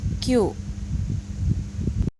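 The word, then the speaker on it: キュ: Namun kalau ki-nya besar, yu-nya kecil, maka jadi kyu.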